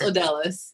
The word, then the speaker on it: Odalis: say your name wrong, Odalis. Odalis, are you there with us? Yes, I'm here. How badly did I mess up your name? Not too bad. It's pronounced Odalis.